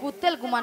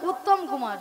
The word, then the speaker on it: উত্তম কুমার: শ্রী শ্রী ঠিক করে উচ্চারণ করে বলো তুমি উচ্চারণ করো বলো শ্রী শ্রী শ্রী শ্রী হ্যাঁ বলো শ্রী শ্রী শ্রী শ্রী কুত্তেল কুমার নয় বলো উত্তম কুমার উত্তম কুমার হ্যাঁ নিয়া বুড়ি যে মোর মাথায়